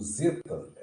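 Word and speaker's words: ζῆτα: Então, o zeta dá a impressão que é DS, zeta, zeta, zeta, zeta.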